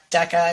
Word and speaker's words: Deika: a pretty unique name Deca I mean and you were straight up about it I think in our first conversation you said hey my name is DECA okay like deck of cards okay now we can